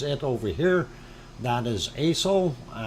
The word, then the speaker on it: Aso: That is ASO, ASO, the way it's spelled.